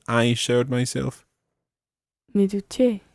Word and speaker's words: duché: Okay, now just double check the stress there. How do you say I showered myself? Me duché. Me duché.